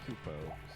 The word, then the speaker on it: Kupo: But no, so it's Kupo, so it would be C-O-O-P-O.